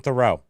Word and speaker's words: Theroux: Justin Theroux.